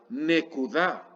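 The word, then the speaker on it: נקודה: Este es un sheva que se pronuncia, o sea, un sheva móvil. ¿Cómo leeríamos? Ne, ku, nekuda.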